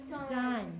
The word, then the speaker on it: done: The one that ends in an N sound. Again, this one doesn't end in an N, but it's the last sound you hear because that E is silent.